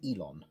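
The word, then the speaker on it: Yilon: at the bottom reading y-i-l-o-n drag snout which is pronounced elon y l she hands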